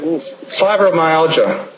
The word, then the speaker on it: fibromyalgia: Fibromyalgia, how do you pronounce that thing? Fibromyalgia.